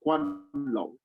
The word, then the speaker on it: Guanlong: Yes, it's written Guanlong, and the G is pronounced like a K in the pinyin system. So Guanlong aristocracy, and that Guanlong